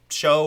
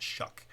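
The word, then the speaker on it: Shough: And I know it looks like show or shog or whatever, but it's pronounced Shuck for whatever reason.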